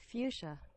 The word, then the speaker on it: fuchsia: do you pronounce it um how do you pronounce it one second fuchsia fuchsia oh fuchsia i'm sorry it is fuchsia